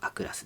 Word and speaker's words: Aクラス: ますけど読み方は A クラスです。A クラスのト